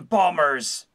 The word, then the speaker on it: bombers: In space, everyone can hear you pronounce the second B in bombers.